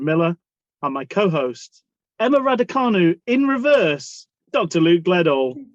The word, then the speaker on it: Raducanu: No, I'm not much like that late Emma Raducanu. What do you pronounce it? Raducanu.